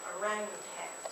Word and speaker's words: orangutans: I did say it right, orangutans, right? It's a tan.